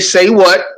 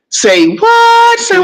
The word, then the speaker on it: Say What: my name is DJ say what as people like to say it say what you you got to say it like that you got to you got to elongate the AG say what now um I'm from